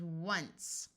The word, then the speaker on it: once: referring to the number if you have a c followed by an EI I or a y you have the Soft C Sound of covered in level three lesson three so this word is once of once one once